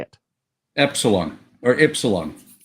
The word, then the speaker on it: Ypsilon: Epsilon or Ypsilon. Ypsilon.